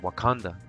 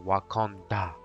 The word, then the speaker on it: Wakanda: of the asaji News the Marvel spelling is different but the pronunciation is the same I have not yet